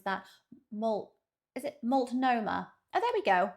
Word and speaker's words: Multnomah: I'm going to have to listen to how he pronounces that. Is it Multnomah? Oh, there we go. Multnomah.